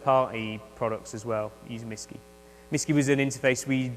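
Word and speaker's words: MSSCCI: have this thing called a MSS CCI provider misy is how that's pronounced so a misy provider allows you to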